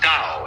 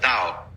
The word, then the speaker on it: Tao: This principle of organic growth they call Tao. That's pronounced Dow. If it had an apostrophe after it, it would be pronounced Tau. But Dow is more or less the right pronunciation for that word.